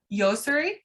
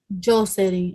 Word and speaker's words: Josery: Josery. Yoseri? Josery. It's pronounced with a J.